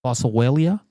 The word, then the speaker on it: Boswellia: Boswellia. Oh, how do you spell it? B O S W E L L I A Bosellia.